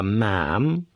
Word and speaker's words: ma'am: For my part, I called her ma'am to rhyme with jam.